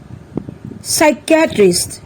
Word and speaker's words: psychiatrist: থাকে the words are receipt psychology psycho cupboard psychiatrist pneumonia let's find out some other words where S is silent আহাচোন আমি এতিয়া Sৰ উচ্চাৰণ কতনো উজ্জ